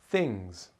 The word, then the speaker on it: things: Things. What exciting things are happening in your life? Things. Things ends with the Z sound.